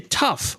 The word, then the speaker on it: tough: So in the first word we say tough. We pronounce the gh at the end as f.